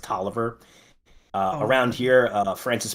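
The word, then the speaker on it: Taliaferro: confederate general who you think his name is talifero but it's pronounced toer uh around here uh Francis Parkinson kais looks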